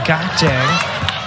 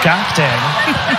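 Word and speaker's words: Gakdeng: And Maria Gakte recently told her school staff, you know, my last name's actually pronounced Gakdang.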